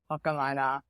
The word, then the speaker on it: Whakamana: To be very honest, I didn't know that the pronunciation was Whakamana until like 2 months in.